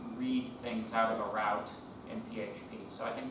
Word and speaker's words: route: directly from what is called the route or root. But I prefer the pronunciation route because then people don't think I'm talking about trees.